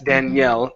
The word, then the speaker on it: Daniel: Okay, that's Danielle. This name is Daniel. Now, when you pronounce that L, Misun, you need to move your tongue forward up to the top of your mouth. Instead of Daniel, Daniel.